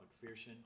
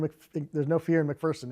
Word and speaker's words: McPherson: There's no fear in McPherson.